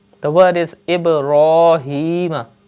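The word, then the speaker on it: إبراهيم: The word is Ibrahim. You can see the letter ra has khada zabar on it, so you have to pronounce it with thick tone.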